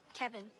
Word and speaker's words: Kevin: Kevin. Kevin. Kevin. Like Kev in.